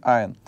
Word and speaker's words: айн: Это согласный "айн". В чем его особенность, да? Мы его пишем, этот согласный, но никак не произносим.